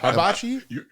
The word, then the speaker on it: hibachi: Hibachi.